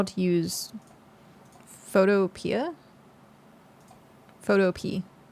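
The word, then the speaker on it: Photopea: Photo pee. It's just photo pe but spelled like the fruit or like not the fruit. Jeez. Ah, no. Not fruit. Uh, vegetable like a P. P E A.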